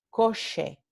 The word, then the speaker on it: coche: La palabra coche, car, no se pronuncia coche, se pronuncia coche, coche.